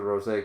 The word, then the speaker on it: rosé: that but yeah it's it's not the accent over the O It's Over the E so it's definitely Ros it's not meant to be pronounced Rose even they're showing roses